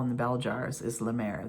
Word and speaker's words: La Mer: the bell jars is La Mer. their or lemir it would probably be pronounced in French.